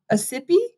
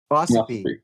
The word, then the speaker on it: Ossipee: I don't know how to pronounce this town. Ossipee? Ossipee.